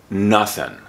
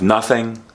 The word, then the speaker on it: nothing: word nothing is that when people pronounce this word often they drop the g and so it sounds like nothing instead of nothing nothing it's nothing however